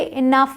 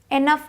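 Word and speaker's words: enough: आता है इ ठीक तो इसे इनफ बोलते हैं इनफ एनफ नहीं बोलते अब आते हैं टी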